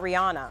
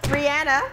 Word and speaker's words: Rihanna: Rihanna is Rihanna, not Rihanna. What? Yeah. Well, I don't believe her though. Oh, I'm gonna believe I'm anything. playing. Anything Rihanna.